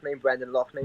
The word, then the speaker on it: Brendan Loughnane: Like the main example I got is I think you pronounce it Brendan Loughnane. Brendan Loughnane, yeah, he's fantastic.